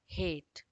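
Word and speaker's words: hate: हा ए ट, हेट। और यहाँ पर हमारा ई साइलेंट हो जा रहा है।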